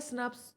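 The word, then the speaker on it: snRNPs: है स्प्लाइसोजोम्स होते हैं अब इन्हें बोला क्या जाता है स्नेप्स लेकिन इनकी स्पेलिंग क्या होती है एस एन आई आर पी S that is इनको लिखते हम ऐसे हैं सो दैट इज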